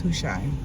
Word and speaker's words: Hushai: Is that how you pronounce his name? Yes, Hushai.